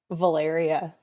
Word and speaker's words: Valyriia: Valyriia. I love that. It I like it. I never hear it, but I like it. Thank you. It rhymes with malaria.